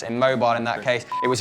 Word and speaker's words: Immobile: Coincidentally, our nickname for Patrick, but pronounced immobile in that case.